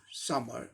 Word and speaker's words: summer: कुछ और एग्जाम्पल लें, SUMMER, समर। अब इसका उच्चारण क्या हो जाएगा, यस के लिए सॉ,